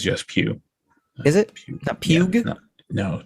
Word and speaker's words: Pugh: like is it like as in you're going to a church and then you want to sit in a pew yes in a pew